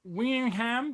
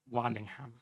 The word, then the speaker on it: Waddingham: be doing this one we have hannah wingham did i pronounce that right hannah no okay great go for it please pronounce because i don't know how to pronounce anything waddingham and you play rebecca